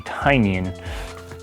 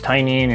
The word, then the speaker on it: Tynion: I used to say his name is Tynion, even though there's a Y, but the name of his company is Tiny Onion, so it makes sense it would be Tynion.